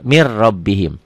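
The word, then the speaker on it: مِن رَّبِّهِمْ: sini langsung ke sini Mir mirbihim tulisannya Min robbihim dibacanya mirbih ini Idam bila gunah Idam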